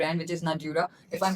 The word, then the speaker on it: Nadurra: बट नाउ you have mentioned the name of the brand which is Nadura, if I'm pronouncing it right. It's pronounced as Nadura. Nadura.